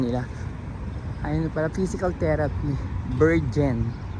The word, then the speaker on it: Bergen: Bergen. Naguguluhan ako sa pagbigkas dyan eh. Kasi lagi ko nang bibigkas siya ng letter J. Dapat wala letter G.